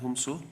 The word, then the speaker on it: Humso: Humso, that is how you pronounce it, Y. Humso, prays that he may be allowed to withdraw